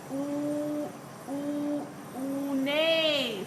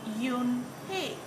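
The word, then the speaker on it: Unhei: scrunching her face up oh nay some kids chanted no no Yoon hey corrected it's spelled u n h e i it's pronounced Yoon hey oh if you hate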